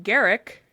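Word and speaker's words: Garak: Rashier, thanks to his newfound friend Garrick, rhymes with Derek, overhears the Duros sisters,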